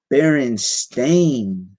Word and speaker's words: Berenstain: pronounced berenstein the one on the right is pronounced baron stain right i i don't i've never seen this